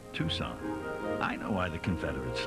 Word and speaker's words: Tucson: a quick line from somewhere south of Tucson pronounced Tucson I know why the Confederates lost they were